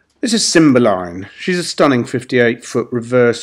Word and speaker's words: Cymbeline: both inside and out Cymbeline by the way she's named after a Pink Floyd song released in 1969 slightly different spelling and pronunciation it's a Shakespearean character but it's a symbol line and she's in very